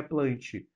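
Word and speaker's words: Plantae: plante Professor lá plantar a forma correta de pronunciar é plante e Animália e se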